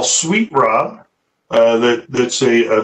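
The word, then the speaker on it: raab: spinach are our different types of rob now we spell it r a a b i've seen it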